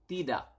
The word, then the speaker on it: tidak: Yes is ya, and then no is tidak.